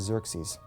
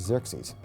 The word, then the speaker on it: Xerxes: His Persian name, in Old Persian, which is his original native language, is Shayarsha. Now that was hard for the Jews to pronounce, so they said Ahasuerus. We know him as Ahasuerus. And the Greeks said Xerxes, which is Xerxes, okay?